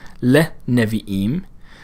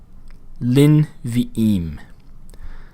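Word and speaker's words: לִנְבִיאִים: So rather than le nevi'im, it becomes lin vi'im.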